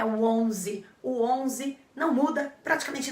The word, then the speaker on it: onze: que é 11 então dá uma forçadinha no onze como se fosse um som bem nasal aquele ar saindo pelo teu nariz com todas as forças mas fora isso ele